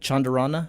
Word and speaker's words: Chandarana: By the way, am I pronouncing your last name correctly? Say it again. Chandarana?